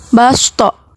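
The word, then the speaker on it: بَسْطَةً: Cara baca yang basto harusnya huruf so dibaca sa atau ibdal. Sebagai tandanya, di atas huruf so terdapat huruf sa di atas so sehingga dibaca basto.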